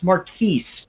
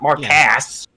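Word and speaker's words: Marques: It's Marquise, not Mark Ass.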